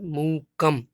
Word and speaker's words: मूकं: पहले हम बोलेंगे मूकम। अब आप सोच रहे होंगे मूक तो लिखा है लेकिन माँ तो है ही नहीं, आपने माँ कहाँ से बोल दिया।